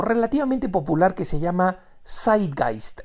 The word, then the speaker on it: Zeitgeist: popular que se llama Side guist Esa es la manera como se pronuncia en alemán se escribe con z